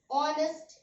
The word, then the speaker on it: honest: Honest, again H is silent.